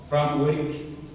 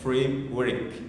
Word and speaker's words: framework: Framework no, c'est framework, c'est le mot l'anglais en fait. Donc en informatique c'est très important d'apprendre l'anglais. C'est très important de maîtriser l'anglais surtout au niveau de prononciation. J'attends souvent beaucoup des francophones disent fr c'est pas fram ça c'est le mot l'anglais donc a donc on dit framework mais le framework c'est